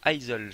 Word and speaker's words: Izle: Ça s'appelle Isle, ça s'écrit I-Z-L-E. C'est île, mais avec un Z.